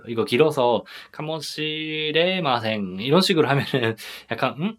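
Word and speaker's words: かもしれません: 발음을 할 때는 카모 시레마센처럼 카모에서 한번 끊어주시면 좋을 것 같아요. 이거 길어서 카모 시레마센 이런 식으로 하면은 약간 할 수도 있으니까 카모 시레마센.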